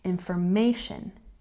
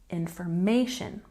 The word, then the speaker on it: information: at our capital letters we've got it on the may sound information information if we're looking at